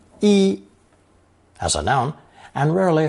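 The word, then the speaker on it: 衣: at the front the basic character for clothing pronounced first tone e e as a noun and rarely a fourth tone e e as a verb to clothe this tone change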